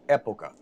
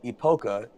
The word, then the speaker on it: época: The two biggest challenges are, number one, the word in Spanish is pronounced época. Okay. So no one pronounces it correctly, which is not a great thing for a brand when no one pronounces your name right. But época doesn't exactly roll off the tongue. And so to any Spanish-speaking person who hears someone say epoca, they just cringe.